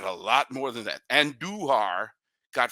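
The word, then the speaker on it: Andújar: They got a long ball from Miguel Andujar.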